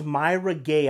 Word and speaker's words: Mara Gay: it out there now this is Myra gay I believe that's how you say her name correctly from The New York